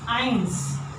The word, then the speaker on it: eins: So, 1 is eins. Eins. We find again the combination like in 9, eins.